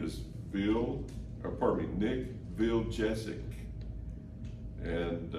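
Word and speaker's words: Vujicic: Bill or apartment Nick bill jessic and that's the way you pronounce his last name but it's not spelled like that nil apartment Nick bill jessic and I want to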